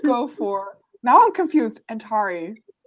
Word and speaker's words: Antari: Then we have Antari or Pirate. If I'm saying that correctly, like the audiobook made me question my pronunciation again. Antari? It's Antari, yes.